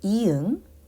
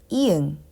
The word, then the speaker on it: 이응: And next one, we call this 이응. And 이응 is actually a little bit unique. When 이응 is a starting consonant, like here, starting consonant, it acts as a placeholder and does not produce any sound.